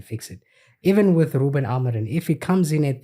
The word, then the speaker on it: Amorim: How do you pronounce his name? Sorry. Ruben Amorim. Is it Amorim? It's Amorim.